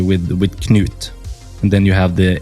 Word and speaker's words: Knut: correct it's actually pronounced Knute Johannes and Li knut yeah Knute cool see I thought for some reason I thought the K would be silent that's what I tried